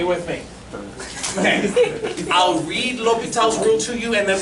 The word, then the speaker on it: L'Hôpital: Say that with me. L'Hôpital. L'Hôpital, dead Frenchman. One more time, how do you say it? L'Hôpital. It looks like La Hospital. It does look like La Hospital, I understand, but L'Hôpital, and we will say it that way, L'Hôpital.